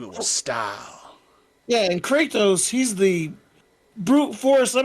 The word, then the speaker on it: Kratos: do you pronounce this you pronounce the a real strong rituals kratos kratos kratos great not there's no why in the middle of his name what the kratos it's not crazy what i've been saying